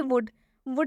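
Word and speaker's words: would: Next example देखिए वुड में भी डी है और इस डी से पहले एल आया हुआ है, और जब भी डी से पहले एल आएगा तो एल साइलेंट हो जाएगा, इसे हम वुड पढ़ रहे हैं।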